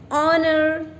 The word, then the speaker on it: honor: one more rule that when the consonant h is silent we use and here like the examples are and our and honor okay so as you can see h o